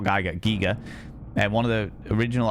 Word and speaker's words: Giger: I've always heard it HR Geiger. But yeah, today we learned. Today we apparently he's done interviews and stuff where it's been like giger to rhyme with eager.